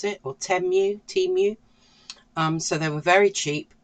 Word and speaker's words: Temu: They were actually from Temu, I think you pronounce it, or Temu.